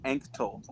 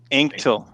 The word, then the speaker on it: Anctil: pronounce it for us that's all right it's pronounced anctol anktil how are you tonight man oh i'm doing